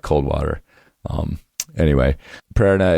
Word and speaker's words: Prerna: It's PRE''RNA. Prerna. So the enunciation is at the A, Prerna.